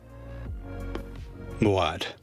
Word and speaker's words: Moad: No, in Morocco we said Muad to pronounce it hard. Muad.